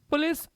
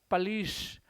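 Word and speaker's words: police: पहली बात तो इसका प्रोनाउंसिएशन पुलिस नहीं होता है। इंग्लिश में इसका प्रोनंसिएशन पिश पिश पलिश प्रोनाउंसिएशन इन आईपीए आईपीए के अकॉर्डिंग इंटरनेशनल फोनटिक एसोसिएशन के अकॉर्डिंग इसका प्रोनाउंसिएशन होता है पिश।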